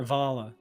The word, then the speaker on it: Wala: Wala or Vala? I think her name is spelled with a W. But it's pronounced with a V.